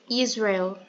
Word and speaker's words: Israel: esse nome mesmo Israel agora a pronúncia seria Israel entendeu porque o r tem aquele aquela pronúncia de como que eu posso falar para vocês um R mais caipira como se fosse um sotaque Paulista tá Alguém tem mais